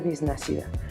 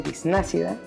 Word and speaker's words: bisnácida: dije, va a ser bisnacida. Yo nací 2 veces, este es mi segundo nacimiento, pero ahora sí para ser totalmente yo. ¿Y por qué ácida? O ese acento en la A de bisnácida, por el toque que